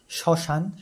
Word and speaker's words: শ্মশান: শব্দের প্রথমে বর্ণে ম ফলা থাকলে সেই বর্ণ উচ্চারণের সময় ম এরও উচ্চারণ অ এর মত হয়।